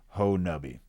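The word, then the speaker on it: Honobia: Um the name of the of the community is pronounced locally Ho Nabi.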